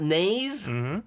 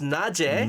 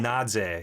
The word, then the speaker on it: Naje: Next up, it's not Naze. It's Naje. Naje, yeah.